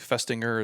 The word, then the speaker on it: Festinger: If you go back to like the 1950s, there was a psychologist, Leon, I think Festinger is how you say his name.